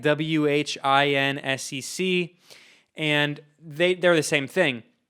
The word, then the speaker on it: WHINSEC: It has a really long name, which is the Western Hemisphere Institute, something to that effect, and it's pronounced WHINSEC, WHINSEC, and they're the same thing.